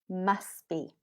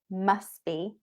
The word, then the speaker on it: must be: Must be. So notice it sounds like one word, must be. And also we don't pronounce the T. Can you hear it? Must be.